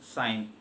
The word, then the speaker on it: sign: yes i g n though the letter g doesn't make any sound it is just a silent letter but the pronunciation of the sound of i will change earlier it was just called sin now because because we have introduced g it has become sign g doesn't make any